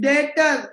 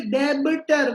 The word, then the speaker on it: debtor: She is debtor. Okay? Hardik, B is silent. Unmute yourself. B is silent. So we will not say debitor. We'll say debtor.